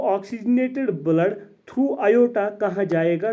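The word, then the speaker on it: aorta: इसको हम ऑर्टा नहीं पढ़ना, इसकी जो प्रोनाउंसिएशन है वो है आयोटा।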